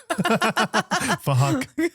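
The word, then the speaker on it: Phuc: It was spelled with a PH, so it sounds like Fahak. Fuck.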